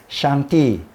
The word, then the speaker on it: 上帝: 우리 한국말로는 상제라 그러는데 중국어는 샹띠, 약간 좀 발음 비슷한가 모르겠어요. 샹띠라 그래요.